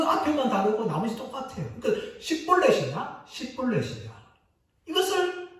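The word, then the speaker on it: שיבולת: 하나는 쉰으로 시작하고 하나는 사베라는 단어로 시작합니다. 자음으로 시작하는데 그 앞에만 다르고 나머지 똑같아요. 그러니까 십볼렛이냐 이것을 발음하기 위해서 찾아내는데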